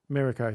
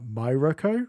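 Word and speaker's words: Mirko: Mirao. Thank you. It's because I I haven't like heard the character's name's pronunciation, so I'm probably reading that going uh My Roco or something like that.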